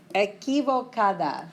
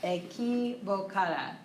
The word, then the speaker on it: equivocada: Oops, yo estoy equivocada. That's how we pronounce that. Equivocada. Q-U in Spanish isn't qua like English. It's k. Makes a K sound.